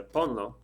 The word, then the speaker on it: ponlo: So ponlo, like put it, en la mesa, on the table, for example. No accent marks, just 2 syllables, so don't worry about it.